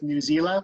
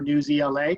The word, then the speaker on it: Newsela: One really neat thing they do have available in the Orchard is integration with Newsela or Newsela, depending on how you choose to pronounce it.